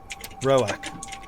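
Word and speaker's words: Roark: Roak.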